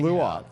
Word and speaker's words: Clouatre: Clouatre there. Yeah. Is that correct pronunciation? of your name? Clouatre. It's like Clouatre. clue plus otter without the ER.